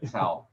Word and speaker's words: Chou: How do you pronounce it? Chou.